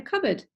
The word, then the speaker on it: cupboard: He hid inside a cupboard because he was scared. So cupboard is actually made from the word cup and then board. Cup, board, but we don't say like that, we say cupboard.